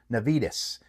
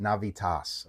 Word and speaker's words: Navitas: And I've heard other people announce it Nvidas and Navitis and all that. It's like a Spanish company. You have to pronounce it Navitas.